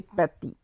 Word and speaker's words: petit: And to small we will say petit. To small we will say petit. P-E-T-I-T, petit. So F will be pronounced similar, but we will put some pressure on saying that, like F, F.